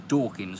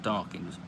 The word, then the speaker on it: Dawkins: pronounced it meme and his name was dawkins not darkins i've seen the [